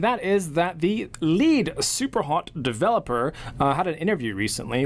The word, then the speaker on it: Superhot: is that the lead Superhot developer had an interview recently where he sort of hinted towards more Superhot, not just DLC, an actual fully fledged sequel. You're saying it wrong. It's super hot.